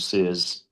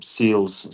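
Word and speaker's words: Seales: Alzari Joseph uh Shamar Joseph and a Jaden Sears um Seals sorry I keep saying pronouncing his name wrong I'll just call him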